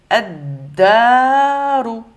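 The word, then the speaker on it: الدار: Pareil, si shadda sur le dal, donc on va dire ad-daru.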